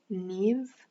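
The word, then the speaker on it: Niamh: is an interesting name but i'm getting neath neve you guys know that one it's spelled like n-i-m-h so that could be your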